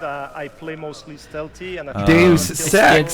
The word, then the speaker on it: Deus Ex: So I pronounce it Deus Ex, actually. I love I always pronounce it Deus Ex.